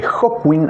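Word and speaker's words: Hawkwind: eh fue a un show de Hotwin, eh Hotwin, así se pronuncia, la banda que en la que estaba Lemi previo a Motorhead, eh, y Lemi le firmó un autógrafo.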